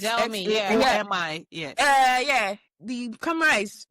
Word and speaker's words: Xiaomi: I don't think I'm pronouncing it well, but it starts at X. Xiaomi, yes.